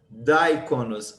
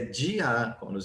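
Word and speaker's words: διάκονος: Se fosse daikonos, aí sim, aí nós teríamos que colocar daikonos, mas é diáconos, então separa aqui, ó, diáconos.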